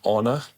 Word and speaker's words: honor: Yeah, because you have a H, but you don't pronounce it in that case. No, you don't. Okay. It's one of the 5 words that you don't pronounce the H of. Yeah. The others, like hour. Yeah. Honest. Yeah. And I don't know what else. Then honor. Honor.